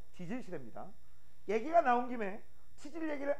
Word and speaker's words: 지질시대: 발음 조심하세요. 치질시대 아니죠. 지질시대입니다.